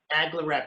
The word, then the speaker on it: NAGLREP: I can't pronounce it, or I'm incorrectly. NAGLREP is how people say it. NAGLREP? Well, NAGLREP, yeah. NAGLREP.